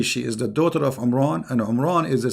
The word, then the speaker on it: Imran: is not Imran secondly he could not pronounce the name correctly of the father of Moses and Aaron because his name is Imran so the last letter is M not in so the foolish Mohammed